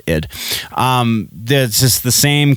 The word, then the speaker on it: id: at id software id i'm pretty sure they pronounce it as id um this is the